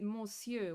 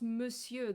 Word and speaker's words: monsieur: But it's actually pronounced monsieur, the same way you would pronounce, like, Neuvillette, you know? Neuvillette, monsieur.